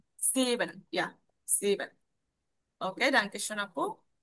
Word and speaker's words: sieben: জিবেন। সিবেন, ইয়া সিবেন।